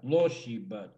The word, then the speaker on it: Tloshiba: The accent is on the O. Arposhiba. Khoshiba. Tloshiba. Troshiba. Khoshiba. Khemshoshiba. So the accent's always on the O.